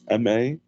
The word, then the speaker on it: Marroquin: Then Marroquin, a lot of people get it wrong, but it's Marroquin.